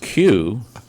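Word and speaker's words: queue: play in a recital the word q q u e is just a q followed by four silent letters Jail jail and prison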